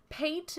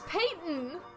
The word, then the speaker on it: Peyton: don't care about football you actually pronounce peyton paint manning or like the other paint which we're not allowed to say but his name's peyton not paint ah yeah schliam i'm